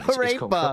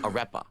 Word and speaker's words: arepa: Arepa. Apparently it's pronounced arepa.